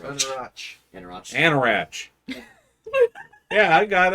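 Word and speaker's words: Anauroch: The right inflection on the right syllable. It's just sh. Yeah, it's just Anarach.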